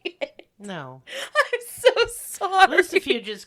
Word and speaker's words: Lucifuge: Lucifuge is correct, but I'd have to have the word in front of me.